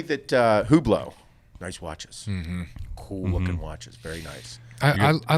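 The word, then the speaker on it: Hublot: I will say that who blow nice watches I like dressing up the Millat who blow yeah there's a silent letter in there to h ub l OT if you want to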